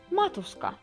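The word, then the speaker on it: maatuska: Произносится оно так: матушка. Кто-то может сказать матушка. Матушка? С большей буквой Ш, как бы, да, русской, но это все-таки С.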